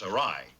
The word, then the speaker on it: awry: It's awry, with the accent on the second syllable.